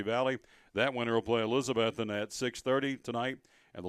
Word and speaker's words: Elizabethton: Put the emphasis on the second syllable. Oh. He said, what about Elizabeth? See, he said Elizabethton. Elizabethton or town. I said, no, it's Elizabeth. And you put in that second out of the 3 syllables.